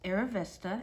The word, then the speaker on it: Arrivista: provides you what it is and how it's pronounced aravesta and it is a noun an unapologetically determined